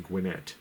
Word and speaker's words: Gwinnett: And once again, next Saturday, come and join us in Gwinnett. See, I said it right. Yeah, you did. At the show in Gwinnett.